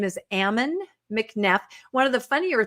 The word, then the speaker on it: Ammon: His name is Ammon McNe.